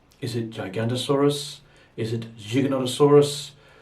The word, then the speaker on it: Giganotosaurus: name should be pronounced giganotosaurus gig another soros think of it as you say the word gigabyte to mean a bit of data so we've got a